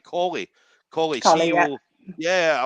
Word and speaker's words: Colley: So, Collie is actually an English name, so right, that should be good. okay. So we're good. So we've got it right. Grace Colley.